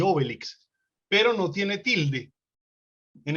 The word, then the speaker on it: Obélix: le dicen astérix y obélix y en francés pues con todo lo francés siempre la tilde siempre el acento al final es astérix y obélix no sé cómo se